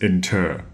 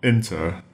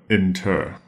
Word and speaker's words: inter: spelled i n t r and note the pronunciation is inter not inter but inter now inter has a very specific meaning it